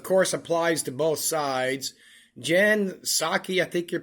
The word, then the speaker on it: Jen Psaki: Jen Psaki, I think you pronounce it, on Biden's historic Oval Office.